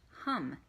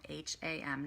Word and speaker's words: HAM: So the throat chakra, the mantra that we're going to use for that is HUM, which is pronounced hum, H-U-M, but it's spelled hum, H-A-M, not ham, hum, okay?